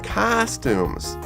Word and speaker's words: costume: First of all, Kay, kids really like Halloween because they can dress up in costumes. 仮装、発音が大事ですね。Costume. That's right. You need to open your mouth very big.